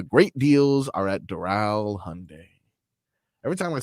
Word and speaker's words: Hyundai: These headlines are brought to you by Doral Hyundai. Doral Hyundai, choose from 1,300 new Hyundai models in inventory like Tucson, Sonata, and Palisade. Remember, when it comes to Hyundai, the great deals are at Doral Hyundai.